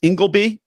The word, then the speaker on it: Ingleby: It's Ingleby. Yep, that's correct. I'm correcting it. I'm pronouncing it correctly.